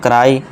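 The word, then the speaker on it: cry: ई आ गया, इसमें ई का आई का उच्चारण भी आ गया यानी कि मेरा। इसी तरह क्राई, इसमें फिर से देखिए आ गया है ना लॉन्ग ई का यानी कि रोना।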